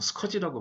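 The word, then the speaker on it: SCSI: 그 다음에 뭐 가상 스카시라는 게 있죠. 뭐 영어로는 뭐 스커지라고 발음하는데 이것도 마찬가지로 한 대의 서버를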